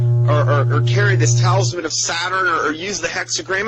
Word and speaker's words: Satur: It says, now the name Saturn in Chaldee is pronounced Satur, S-A-T-U-R.